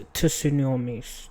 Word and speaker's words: tsunami: Why is there a T there, bro? The fuck? To tsunami. Why is it? Is that a silent T? What the fuck? Has anyone ever seen a silent T before? That's a weird shit. Who made that word up? Women were now standing directly in the path of an impending... Who made the word? Japanese origin. Okay.